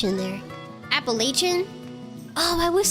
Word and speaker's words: Appalachian: Appalachian? Oh, I was saying Appalachian. It's not Shin, it's Chun.